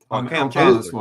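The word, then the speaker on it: Kam Chancellor: Cam Chancellor was. Cam Chancellor. Cam Chancellor. Yeah, I said the name wrong.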